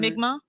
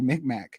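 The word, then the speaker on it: Mi'kmaq: that finding the uh how do you pronounce that migma migma sorry i would just want to say mcmack all right the mig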